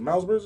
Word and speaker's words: Miles Bridges: Is it Miles Bridges?